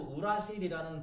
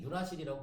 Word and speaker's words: 유라실: 근데 어감이 너무 이상해서 얘도 마찬가지로 우라실이라는 발음 표현을 했었지만 요즘에는 유라실이라고 보통 발음합니다.